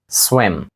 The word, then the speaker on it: swim: схожа до українсь і але в слові swim як і в більшості слів в англійській мові вона не буде вимовлятися як і як наша м'ягка літера і Ні вона більш тверда схожа до нашої е swwiм а не swwiм